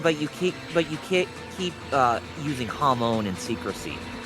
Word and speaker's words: Hamon: Toma, it's actually pronounced Hamon. There's no R in the word.